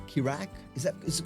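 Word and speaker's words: Keeragh: Just just off the coast of Wexford where we are, there's a small little island formation called the pronounced the Krox, but it's spelled K E R A G H.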